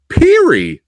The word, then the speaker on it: Pirie: Uh Perry.